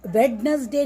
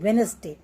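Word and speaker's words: Wednesday: जैसे वेडनेसडे नहीं हम बोलते, क्या बोलते हैं, वेनसडे। इसमें ई भी साइलेंट है और डी भी साइलेंट है।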